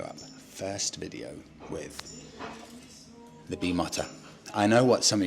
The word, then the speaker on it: Bimota: Plus, in Italy, I is pronounced EE. So you look at Lamborghini, you look at Ferrari, you look at pizza, you look at the Leaning Tower of Pisa. That's just how you say it. It's Bimota. So anyone that's saying to me, Freddie, it's pronounced Bimoto, I'm sorry, you're wrong. It's Bimota. I am right.